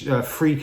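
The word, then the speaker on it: Freq: And freak is spelled F-R-E-Q, like super freak, of course.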